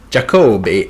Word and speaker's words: Jacobi: Jacobi, it rhymes with Adobe.